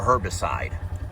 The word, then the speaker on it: herbicide: But what we did not do is put a herbicide. Herbicide. So the H is silent. Yes. So What we did not do was include an herbicide in that.